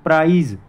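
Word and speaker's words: prize: Next one इज प्राइज, प्राइस एंड प्राइस. Pronunciation is change and one word is change. प्राइज पी आर आई जेड ई प्राइज.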